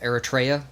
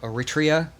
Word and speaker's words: Eritrea: And Italy occupied the area, what is now the country of Eritrea or Eritrea. I've heard it pronounced both ways by credible sources. I think I'm going to call it Eritrea, just because that's what's stuck in my mind.